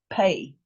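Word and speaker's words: פּ: Pay.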